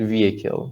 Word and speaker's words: vehicle: was uh because um vehicle right vehicle the h is silent vehicle not vehicle or